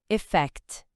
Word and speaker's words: effect: Efeito em inglês é effect. Vamos ouvir com calma. Primeiro, bem devagarzinho, sílaba por sílaba. E fact. percebe a força no final no fact.